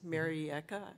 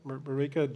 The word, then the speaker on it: Marieke: probably familiar with, woman is from the Netherlands, Marieke, I think is the way her name's pronounced. Marieke, yep.